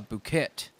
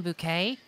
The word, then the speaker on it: bouquet: the pretty yellow leaves into a nice uh Phuket you mean a bouquet and how the hell am I supposed to